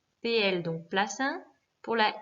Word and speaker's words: plaza: Attention à la prononciation, contrairement à ce que beaucoup d'élèves me disent, il n'y a pas de D, hein, donc c'est plaza, la place.